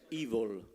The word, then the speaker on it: Evol: Che la pronuncia giusta è Evil, quindi mi scuso.